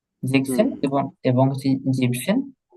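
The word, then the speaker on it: siebzehn: ঠিক আছে, জেকসেন হুম এবং এবং হচ্ছে জিপসেন। জিভেনসেন আবার বলা যাবে না। হ্যাঁ, এটা হবে জিপসেন। ঠিক আছে, যেখানে দেওয়া আছে। জিপসেন। হ্যাঁ, জিভেনসেন কিন্তু হবে না, এই যে এ এনটা কাটা যাবে।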